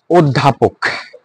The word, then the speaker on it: অধ্যাপক: ওকে, এরপরে কি হয়েছে দেখো, অধ্যাপক, ধয়ের পরে জ আছে, সেখানে স্বরে হবে কি? ও।